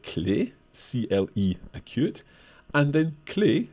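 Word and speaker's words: clef: c-l-e acute and then clay c-le-f with a silent F at the end as Mike said that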